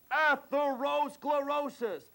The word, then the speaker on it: atherosclerosis: Atherosclerosis. That's right, 6 syllables, a humongous word with titanic importance.